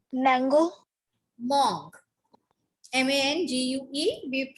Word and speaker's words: mangue: And what we pronounce mango? Mangue.